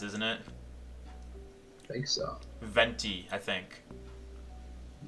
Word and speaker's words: Venti: it i think so venti i think benty exactly see in german you would pronounce that v as a b it'd be like a venti latte so yeah i prefer to say benty i miss speaking in